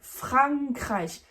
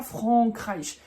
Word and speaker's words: Frankreich: Donc, par exemple, dans la France, qui se prononce en français, en allemand, c'est Fran, Frankreich, Frankreich, d'accord? Et c'est pas Frankreich.